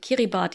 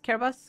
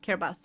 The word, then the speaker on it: Kiribati: pacific island state called kiribati the thing is it's not pronounced that i i realize that later i actually forgot how it's pronounced um kiribatis care bus care bus i think yeah but the way